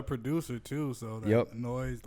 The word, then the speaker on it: NOIISE: And it's easy to say NOIISE, one syllable.